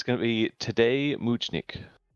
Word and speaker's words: Tadej Močnik: Need some pronunciation help on this one. It's going to be Tadej Močnik. Tadej Močnik.